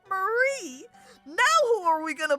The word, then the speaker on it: Marie: The IE makes me want to say her name is Marie rather than Mary, which is how I would read it with a Y.